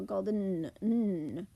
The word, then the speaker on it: golden: How did we say the EN in golden? I kind of tell my students it's almost a swallowed sound. We say it so fast we go golden. We barely hear a vowel at all.